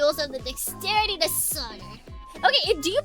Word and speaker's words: solder: Pronounced commonly solder, but we'll just go with we like pronouncing the L to enrage people.